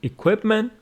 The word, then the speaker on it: equipment: will tell you that equipment with the stress on the second syllable it is a noun